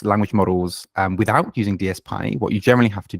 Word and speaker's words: DSPy: some people call it dpy or DP or whatever but they they even say in the paper it's pronounced DSP so that's apparently how